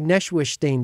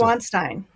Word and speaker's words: Neuschwanstein: I say Neuschwanstein, but I think that's the wrong way to pronounce it. Neuschwanstein.